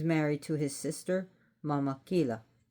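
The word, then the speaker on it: Killa: So Auntie is married to his sister Mama Kila. It's pronounced kila cuz it's not Spanish.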